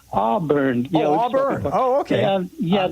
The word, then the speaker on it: Auburn: John in Arbor, California. Am I saying it right? Auburn.